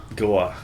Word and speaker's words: Goa: What's it pronounced? Goa.